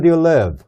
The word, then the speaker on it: live: 수 있단 말이죠 이거는 어디에 사니 하는 말이에요 live 어디에 살고 있니 live 이렇게 질문해 볼 수 있는데라는 단어가 있잖아요 이거라고 발음하면 안되고 live 이렇게 발음해야 돼요 한번 따라서